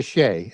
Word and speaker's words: Sidhe: And if people want to Google, and it's spelled again Sidhe, pronounced 1,000 different ways, so don't get caught up on the pronunciation. Riders of the Shay, Sidhe, you're going to